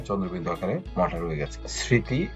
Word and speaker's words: স্মৃতি: স্মৃতি, এখানে মোটা উচ্চারণ হয়নি কিন্তু এখানে সানুনাসিক উচ্চারণ হয়েছে এবং চন্দ্রবিন্দুটা এখানে রয়ে গেছে।